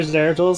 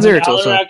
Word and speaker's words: Zeratul: only one builds for zeratul so i wouldn't know 100 yeah it's not zero total grade looks like i